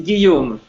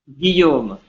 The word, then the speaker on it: Guillaume: Okay, Guillaume, is that how I pronounce your name? Well, it's Guillaume. Say it again. Guillaume. Guillaume. Guillaume, yeah. Well, you have to be French to pronounce it.